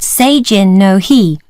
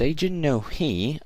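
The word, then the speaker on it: Seijin no Hi: the coming-of-age festival okay so it's aging no he I was pronouncing that wrong but now I got that right okay so what is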